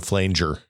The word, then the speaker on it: flanger: dog everything I'm seeing says soft G sound so flanger flanger flanger flanger long a soft G Brad what are we